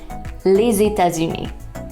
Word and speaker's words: les États-Unis: audio, we see that individual words are pronounced les, État, and uni. Yes, French is famous for its silent letters. Okay, but now if you check out the full phrase, you'll see that when you put all the words together, you get les États-Unis.